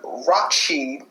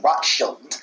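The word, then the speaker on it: Rothschild: the zionist movement baron rakshi i'm not saying his name right i'ma spell it for you guys r o t h s c h i l d rock shield stating that the government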